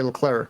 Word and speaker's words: Leclerc: to other english people if he was talking in his native language french he would probably say leclaire i took french a couple years in canada and that's how i would have pronounced it in french but since we're speaking english and his other drivers call him leclerc we'll do that the other person that